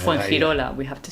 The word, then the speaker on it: Fuengirola: Benalmádena, Fuengirola. We don't say. Say it again. Fuengirola, you say. Fuengirola, something like that. Fuengirola, we have to say.